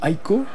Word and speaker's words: Ico: Ça rappelle Shadow of the Colossus, Ico, puisque évidemment ils étaient deux dans Ico, ou Aiko, prononcez comme vous voulez.